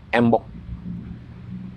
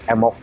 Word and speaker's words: embok: Kalau perempuan disebutnya embok. Sebetulnya ditulisnya MBOK, M-E-M-B-O-K. Tapi dalam pelafalan keseharian orang Sunda, B itu luluh, sedikit luluh. Jadi tidak embok, tapi menjadi emok.